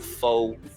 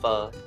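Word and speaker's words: pho: it only takes ten pronouncing it wrong so it's not full it's fur i'm doing it with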